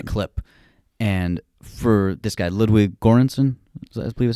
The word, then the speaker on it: Ludwig Göransson: And for this guy, Ludwig Göransson, I believe is how you say his name.